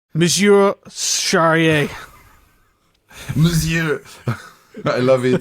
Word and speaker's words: monsieur: Monsieur Charrier. Monsieur. I love it. It sounds almost rude. Monsieur Malquin. Monsieur. It's like M-I-S or M-O-S? M-O. Oh, yeah, M-O, but we pronounce M.